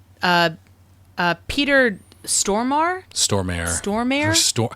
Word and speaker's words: Stormare: uh Peter Stormer Stormare storm stor I've heard some people pronounce it stormore but I think it's storm well that guy um